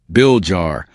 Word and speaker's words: Villar: Manuel Manny Bomba Villa Jr. Tagalo pronunciation Bill Jar born December 13th 1949 is a Filipino businessman and former politician.